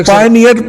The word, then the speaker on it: Payoneer: जी जी, PayPal की तरह के, इसी तरह पेपॉल के पायनियर स्पेलिंग है इसके, लेकिन आई की जगह के ऊपर उन्होंने वाई लिखा हुआ, ठीक है। इसे ये पेयोनियर कहता है, मैं पायनियर ही कहता हूँ, ठीक है।